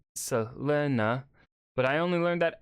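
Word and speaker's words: Selene: a sunset or stormcloud technically it should be pronounced like Selena but I only learned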